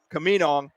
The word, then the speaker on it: Camino: He said, well, think of Camino. So Camino.